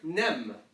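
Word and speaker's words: ⲛⲉⲙ: This word, nem. So pronounce it like it looks.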